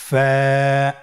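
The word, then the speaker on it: ف: ফা হরফটি আপনারা স্ক্রিনে দেখতে পাচ্ছেন ফা হরফটি উচ্চারণের ক্ষেত্রে বারিক হবে এবং এক আলিফ টেনে পড়তে হবে আপনারা আমার সাথে আবার বলুন ফা স্ক্রিনে দেখতে পাচ্ছেন ফায়ের মাখরাজ ফা এর মাখরাজ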